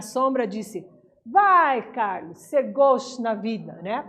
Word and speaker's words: gauche: Na atividade 2, olha só, quando nascia um anjo torto, desses que vivem na sombra, disse: vai, Carlos, ser gauche na vida, né? Pronuncia-se gauche, escreve-se gauche.